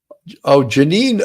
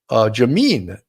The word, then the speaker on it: Jameen: Janine Ergas has gifted, there we go. Janine Ergas has gifted 5 police off the cuff. Jameen Ergas, I said it right. I think I said Janine the first time.